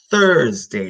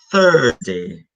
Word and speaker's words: Thursday: Italians to pronounce Thursday Thursday you have to put your tongue between your teeth Thursday yeah always remember the